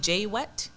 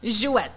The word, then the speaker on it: Jouet: Just to let you know, I was saying J-Wet. And Jouet. that's surely not how you pronounce it. Jouet. Jouet, yes. Perfect. And what's that about?